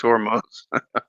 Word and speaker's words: Hormuz: It's Hormuz.